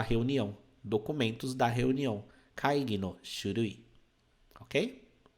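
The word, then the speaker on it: 書類: de escritório né xurui então de pronúncia ó Shu ru I xurui Ok lembra daquele u que não é um u e sim u então Shui significa documento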